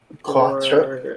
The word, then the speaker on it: quatre: Quatre. In French. Yeah, from Conseil Quatre. That is what they are. Apparently it's pronounced quatre, according to Google.